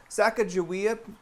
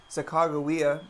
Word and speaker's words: Sacagawea: in oregon walawa lake sacagawea or if you want to say it correctly chicagoa mountain and the city